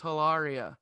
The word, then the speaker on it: Hilaria: Because Alec would even correct people when they would say her name wrong on interviews. He'd be like, no, it's Hilaria.